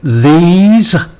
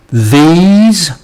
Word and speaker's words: these: um the sounds of the month we had these these and this this okay some vocabulary um uh